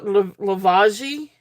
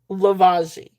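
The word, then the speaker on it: Lavaggi: I know I have a I You guys know I have a hard time trying to pronounce things. Uh Lavagi. Lavagi.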